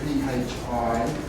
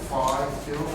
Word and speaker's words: phi: well, it's an F sound, but we pronounce it P-H-I. You know, like Philip, phi, phi.